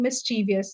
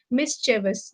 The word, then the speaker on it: mischievous: stress on for example we end up always saying mischievous but that's not the pronunciation misis that's the pronunciation of this word according to the syllables